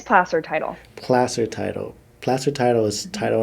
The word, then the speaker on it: Placer: I keep I keep on wanting to say place or title but it's not that right how do you say it again no it's it's plaster title Placer Title plaster title is title and Escrow Company